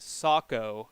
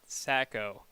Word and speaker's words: Saco: He really wanted to make sure that that I let you know that's actually pronounced Saco, not Sacco.